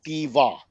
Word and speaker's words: conjunctiva: Conjunctiva. Conjuctiva. 4 syllables.